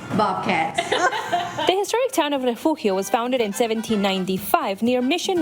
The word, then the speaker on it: Refugio: Nos vamos para refugio. Órale, vámonos. It's spelled R-E-F-U-G-I-O. But in South Texas, pronunciation varies and even sometimes sparks debate.